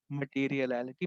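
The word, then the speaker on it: materiality: तो this is called मटेरियलिटी principal. थोड़ा सा प्रोनाउंसिएशन में इसमें इशू आएगा, मटेरियल टोटलिटी से इसको याद रखें, ठीक है।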